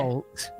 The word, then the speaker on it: Wolt: No, we don't say W like V, no.